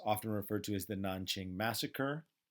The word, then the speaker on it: Nanjing: na n ki ng is sometimes spelt with a J instead of a K both pronounced Nanjing in either case Nanjing Nanjing you might hear